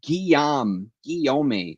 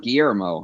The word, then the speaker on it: Guillaume: Pierre Guillaume, pronounced Guillaume. Oh, Guillaume. Oh, I've been pronouncing it wrong all along. So it's not Guillermo, huh?